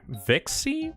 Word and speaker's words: Vixie: Vixie. Vixie by Beast Marrow. Vix. She her. Yeah. Okay. It's pronounced Vix.